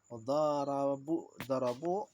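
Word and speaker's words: ضَرَبُوا: Karena dia bersambung dengan waw jama' yang menunjukkan waw jama'nya adalah dhamir jama'nya. Darabu. Nah, dibacanya darabu. Darabu.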